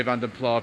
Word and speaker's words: Vanden Plas: I am going to say Vanden Plas viewers because it's going to be easier if I just use a pronunciation I'm familiar with. That's the one that they used in the marketing department Austin Rover in the 80s actually, although other pronunciations are equally acceptable.